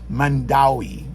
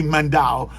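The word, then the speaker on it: Mandaue: tell me correct me on how to actually pronounce that Mandi I I say mandow but it's actually pronounced Mandi you go to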